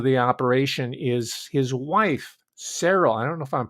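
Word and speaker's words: Seryl: mispronouncing your name but i see it as it's spelled s-e-r-y-l cereal like i'm pronouncing it and her maiden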